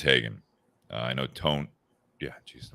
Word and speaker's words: Haugen: But you have basically Jeff Hagen, and I had to verify how you say that name because it's spelled Haugen, but I think it is Hagen.